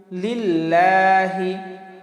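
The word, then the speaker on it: لله: তাহলে আত্তাহিয়া, আত্তাহিয়াতু লিল্লাহি। লিল্লাহ লামে একালিপ টান, লিল্লাহি, লিল্লাহ লামে একালিপ টান।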